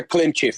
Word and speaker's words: Klimchev: I just don't know how to pronounce it. It's a Klimchev.